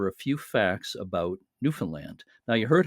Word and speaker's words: Newfoundland: but anyway, the way people there uh pronounce it is Newfoundland. Or even a lot of them will put the accent on the last syllable like Newfoundland.